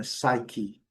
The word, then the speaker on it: psyche: E aqui tem aquela observação, é uma das raríssimas palavras em inglês que a letra E é pronunciada com o som de I. Então, é psyche. A primeira sílaba é a sílaba forte, mas a segunda sílaba também, o I a gente pronuncia com uma certa clareza.